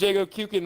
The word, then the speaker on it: Jago Kuken: For anybody who pronounces this incorrectly, it's Jago. Jago. The last part of my name is Jago's Fireball in Killer Instinct. He goes Endo-Kuken. Endo-Kuken. So it's pronounced Jago Kuken.